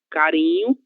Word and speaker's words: carinho: Letra R entre duas vogais: carinho, pirulito. E qualquer outra palavra que apresente a letra R entre duas vogais, ela terá esse mesmo som.